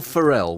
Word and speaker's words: Ferrell: Ferrell, like a feral Well, Ferrell child.